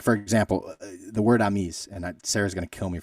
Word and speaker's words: amis: amis. Yeah, so that means friends. It would be spelled as we would spell it, AMIS.